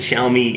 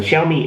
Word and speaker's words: Xiaomi: the the Xiaomi I think I'm pronouncing that right. The Xiaomi Air is actually 13% thinner than the than the uh that the MacBook Air.